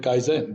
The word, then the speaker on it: kaizen: you're probably aware of i'm sure i'm not pronouncing it correctly but that's how it's pronounced in the west so we call it kaizen which means continuous improvement